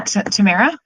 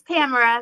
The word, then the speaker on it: Tamara: Yeah, Tamara? Hi, everyone. It's Tamara. Rhymes with camera.